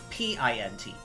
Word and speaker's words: pint: Now, how do you say P-I-N-T? Oh, pint. Exactly.